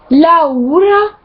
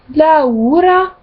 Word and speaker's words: Laura: Ensuite, toutes les voyelles se prononcent séparément. Par exemple, dans le prénom Laura, ça se dit Laura, Laura.